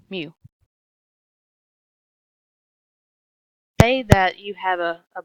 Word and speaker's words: mu: that would be parameter U or sorry mu it's a Greek letter how you pronounce it is mu if your average or